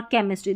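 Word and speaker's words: chemistry: CH को च क श पढ़ते हैं, देखिए ये तीनों उच्चारण भी मैंने बताए हैं। चेयर और केमिस्ट्री, देखिए चेयर में च और केमिस्ट्री में क पढ़ा है, ठीक है।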